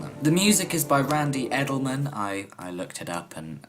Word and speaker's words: Randy Edelman: The music is by Randy Edelman.